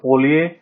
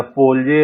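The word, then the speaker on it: polje: युवाला उससे भी बड़ा है, और पोलिये या पोलजे, हम लोग पोलिये, इसमें जे साइलेंट है, ये सबसे बड़ा है।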